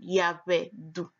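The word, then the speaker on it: Yehudah: do oh do come the correct pronunciation of the name Judah is yeah oh yeah we do let's take a look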